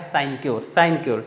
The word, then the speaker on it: sinecure: तो सिन क्योर, इससे आप याद कर लेंगे, सही प्रोनाउंसिएशन इसका है साइनक्योर, ठीक है, जिसको हिंदी में कहते हैं आराम की नौकरी।